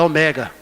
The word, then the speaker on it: ômega: que eu descobri que o ômega não é Ômega fui falar esse nome perto de um professor de grego Será que ele falou você estudou aonde pastor por quê olha o texto original lá não tá escrito Ômega não o acento não tá no ó é o mega foi mas só fala